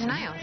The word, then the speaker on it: Denio's: Yep, Denio's. Is that how you pronounce it? Denio's.